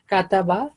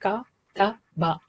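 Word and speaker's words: كَتَبَ: So it is just 1 second, ka-ta-ba. So we should try to avoid it when we are practicing. We don't say it like kataba, not in a relaxed manner. Just give equal time to each.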